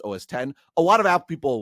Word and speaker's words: OS X: And when the first OS 10 came out, a lot of it was written OS X, but it's pronounced OS 10.